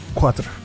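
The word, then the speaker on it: quatro: TR how do you say for in Portuguese quatra quatra yeah so it's like Quattro but with an a yeah yeah it's quattra but with only one t Quattro yeah all right quatra that's boring as hell that's where the word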